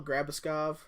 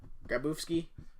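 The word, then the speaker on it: Grabovski: Mikhail Grabuskov. Nope. Grabowski. Mikhail Grabowski.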